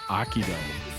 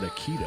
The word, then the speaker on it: Akito: Oh, it's Akido. Oops. I definitely mispronounced that. I think I said Aikido, right?